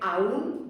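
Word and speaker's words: aun: Y en realidad aquí sí que hay una pequeña diferencia de pronunciación. Este tendría que ser aún, dos sílabas, y este tendría que ser aún.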